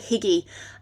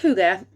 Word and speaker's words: hygge: y double g e it looks like higgy and uh that is in fact how i pronounced it for the first few months of hearing it and reading about it but it's pronounced hygge and this is a